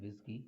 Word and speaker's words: WSGI: enhance the feature of the flask applications wsgi pronounced at whiskey is simply calling convention of web servers to